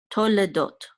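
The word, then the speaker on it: תולדות: Oh, actually, no, we will pronounce this shava after the cholem. So we're gonna say tolle, tolle, and this is a dalid with the vav and the cholem, which says do, and this tav will close that syllable out. Dot, tol, tolle dot, which means generations, the generations.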